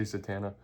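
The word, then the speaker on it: Zatanna: People say Zatana. Zatana. I say Zatana because that's the right way to say it.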